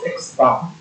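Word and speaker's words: x̄: fact the formula is x sorry okay we pronounce this as x bar actually statistics rather this would be x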